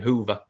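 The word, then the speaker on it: Hoever: three is for them i think it's hover apparently that's how he's pronounced his name hoover ex-liverpool player or something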